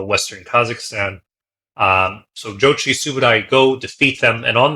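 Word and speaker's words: Subutai: the famous General sub subotai you might see his name rendered as but subai is probably the closest to the 13th century pronunciation Mongolian um they have just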